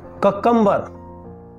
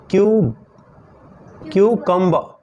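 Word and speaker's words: cucumber: है उसको determine कुकुंबर बोलते हैं उसको एक्चुअली हम पढ़ेंगे क्यों कम क्यों कम क्यों कम आर साइलेंट रहेगा इस तरह से कंप्यूटर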